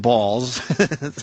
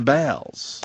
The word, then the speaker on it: Baals: new building citizens square the real Harry Baals who indeed pronounced his name balls right here was Fort Wayne's mayor from 1934 through 47 and again through 51 to 54 his descendants changed the pronunciation to bowels pal city officials initially